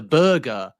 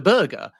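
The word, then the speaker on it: Berge: Ber and then when he was asked in a subsequent interview why have you given your name in two different ways he said I just don't care people can call me what they like.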